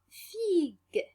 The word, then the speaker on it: figue: GU devant E. Donc, exemple, on a figue. Figue. Regardez bien la syllabe GU.